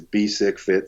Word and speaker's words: Bisek Fit: Well, I mean, everything that I do is Bisek Fit something. So it's just as it's spelled, BESICKFIT. Anywhere you want to find me, it's Bisek Fit.